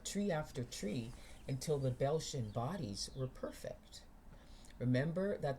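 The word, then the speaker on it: Beltian: Si the six the the Belchian bodies seem to be perfect for that single purpose. Look at a picture on the internet of Belshian bodies and that's spelled B E L T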